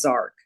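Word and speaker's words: Jark: His name is Zark. It's spelled J A R K, but it's pronounced Zark.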